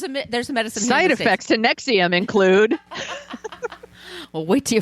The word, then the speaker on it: NXIVM: prayed on them later they changed the name to Nexium and it's spelled NX I VM all capitals it's not nexum like the heart medicine the heart you the